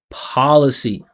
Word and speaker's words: policy: P policy. I bet that some of you right now are going P policy. Policy. Policy. policy and putting all this perfection into the P. The P is not playing a major role. No consonant is playing a major role. It's about the the openness of the vowel and the vibration.